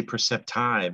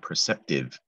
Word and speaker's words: perceptive: The trick to that is it looks like it should say perceptive, as in the word I've, but it's a short I.